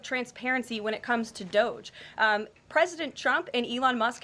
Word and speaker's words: DOGE: On DOGE and the fraud claims.